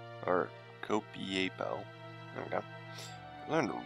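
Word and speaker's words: Copiapó: Copiaco. Or Copiapo. There we go. Learn to read, maybe I'd be able to pronounce better.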